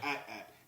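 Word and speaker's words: AT-AT: It's called an at. Okay, you go back and watch those old commercials. They pronounce George Lucas said at, not an AT or ATS.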